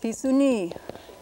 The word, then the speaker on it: pisuni: Skunk is pronounced pisuni, and we can spell it like this. P, su, accented, ni. And in IPA, we'll put a little colon here, meaning you draw out that last vowel. I with a colon is pronounced e as opposed to e. So this is pisuni.